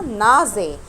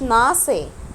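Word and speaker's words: Nase: طيب حرف الاس بتنطق زي الزين، عشان كده انا نطقتها نازي ما قلتش ناسي.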